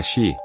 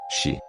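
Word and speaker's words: 四: Por exemplo, em mandarim, a palavra para o número 4 sublinhado é Xi, que soa parecido com a palavra para morte. Xi.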